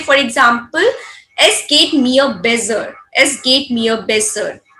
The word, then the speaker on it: besser: example, es geht mir besser. Es geht mir besser. Besser, we generally say besser. Es geht mir besser. Double S sound will be so only.